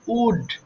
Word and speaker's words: would: তবে একটা বিষয় দেখো, এটা কিন্তু উল্ড হবে না, উচ্চারণ ভুল করা যাবে না, এটা হচ্ছে সিম্পলি উড।